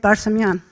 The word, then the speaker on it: Barsamian: David Barsamian. David, I pronounce it as the Palestinians do with the community there, so I think I pronounced it properly, right?